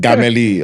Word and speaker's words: Gameli: I'm just there like, okay, it's just Gameli, all right?